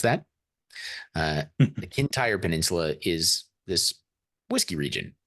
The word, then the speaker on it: Kintyre: I looked up how to pronounce that. The Kintyre Peninsula is this whiskey region for some reason.